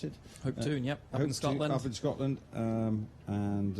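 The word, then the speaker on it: Hopetoun: Is that how you pronounce it? Hoptune.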